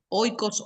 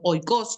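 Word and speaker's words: οἶκος: Acá lo citamos, lo traigo a la palabra del griego oikos, bueno, justamente, oikos significa casa, oikos o oikos, como se pronuncia y como esté la traducción, y la palabra logos es estudio.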